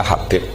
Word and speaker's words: Habib: Itu di harakatnya kitab itu ada yang nulis Hubab. Yang benar Oh, nggih. Yang benar itu bacanya Habib.